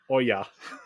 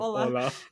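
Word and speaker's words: hola: double L, so it would be pronounced Oya instead of Ola.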